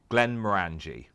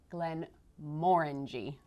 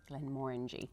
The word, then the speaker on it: Glenmorangie: Bill Lumsden, told me it is actually Glenmorangie. Glenmorangie. Orange. So it's more orangey. Orange. And look at the color of the bottle. Yep. Bill Lumsden always says actually that the orangey is morangy in Glenmorangie.